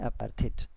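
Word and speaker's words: apartheid: Pronunciation क्या होनी चाहिए, इसको दो तरीके से बोल सकते हैं। अगर आप ब्रिटिश या आईपीएस जो हम लोग बोलते हैं उसके अकॉर्डिंग डिसाइड करें तो उसमें होता है अपार्थाइड, ठीक है।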